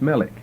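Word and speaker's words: מֶלֶךְ: strength a mighty king milk that's translated m e l e k just like it sounds Melech it's a very basic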